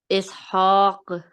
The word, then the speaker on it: Ishaq: Ishaq. Yes. So we skip the short strokes while stopping, okay, and change it into a second letter. So now you are pronouncing correctly. It is ishaq with medium qalqala.